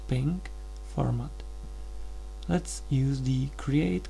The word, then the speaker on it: PNG: It is best if you have your logo in the PNG pronounced pink format.